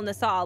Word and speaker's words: NASA: company as Neil Neil Nisa last name NASA but pronounced Nisa he legally changed his